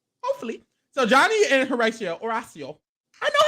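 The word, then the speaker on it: Horacio: so Johnny and Horatio oracio I say his name I just don't want to I can't say all right it's oracio it's oracio aracia oracio Gutierrez let me try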